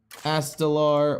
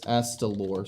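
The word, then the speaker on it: Astalor: the diamond one though astelar what oh it's astelor sorry I always pronounce it wrong and that made me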